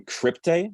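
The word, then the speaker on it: Cryptae: oh this has been crypte i think it's how you pronounce it it's like crypt c-r-y-p-t-a-e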